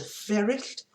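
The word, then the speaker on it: Fferyllt: After Death, we have the card called Fairest. Now, I'm pronouncing it how I would if I was at home in Wales, the double L sound. The Fairest, F-F-E-R-Y-L-L-T, two F's make the F sound, double L.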